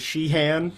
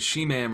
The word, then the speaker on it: Sheehan: your name wrong yes i was like this is sheehan no you said she ma'am or something she ma'am or something so his name is not she ma'am or she man or she or whatever